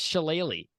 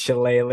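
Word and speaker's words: shillelagh: at the description for chile or shellac pronounced sheleighly so so my ass is pronounced sheleighly that's how it's pronounced well it's the one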